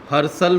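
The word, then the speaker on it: Herschel: discover किया William हरसल हरसल में एच ई आर एस सी एच ई एल है H silent है हरसल विलियम हरसल एच ई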